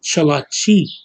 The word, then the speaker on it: Cherokee: The original way to say Cherokee is Chalachi. That's how you say it.